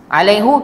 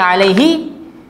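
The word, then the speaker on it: عليهِ: Kenapa baca alaihi? Ada huruf ya mati, maka baca baris bawah. Kita tak baca alaihus salam, tapi bacanya alaihis salam. Kalau ikut grammar, baca hu dimaafkan. Tapi orang Arab baca, tetap baca alaihi.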